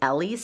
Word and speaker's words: Ellie's: Again, it's from, somebody corrected me, it is Ellie's studio, I guess. I thought it's spelled like L's, but pronounced Ellie.